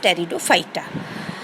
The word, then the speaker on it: Pteridophyta: P is silent. Pronunciation is Pteridophyta.